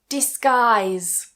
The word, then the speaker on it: disguise: Disguise. Disguise. So, even if it's in the middle, doesn't change. We remove that U.